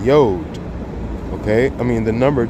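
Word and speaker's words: יוד: So, and this is how you say the letter 10, Yod.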